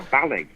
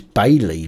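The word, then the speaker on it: BAILII: Is it Bailey or Bally? I would suggest it's Bailey, B-A-I, Bailey with double I on the end.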